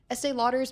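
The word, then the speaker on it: Estée Lauder: it as a positive because it shows that Estee Lauder's management has the discipline to walk away from potential distractions.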